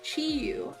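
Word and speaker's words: Chiyu: Yes, their name is Chiu. Um, it's spelled C H I Y U.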